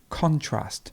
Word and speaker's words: contrast: how the verb changes so you would have the stress at the beginning for the noun and the stress at the end for the verb and that happens in